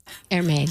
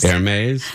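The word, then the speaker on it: Hermès: Hermes. Hermes. Then how about spelling it with an A? Hermes.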